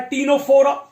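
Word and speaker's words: Ctenophora: एक आता है सीलेंट्रेटा, जिन्हें हम नाइडेरियल्स भी कहते हैं, दूसरा है टीनोफोरा, इसमें सी साइलेंट है, और थर्ड है फ्लैट वर्म्स, जिन्हें हम बोलते हैं प्लैटिहेल्मिन्थीज।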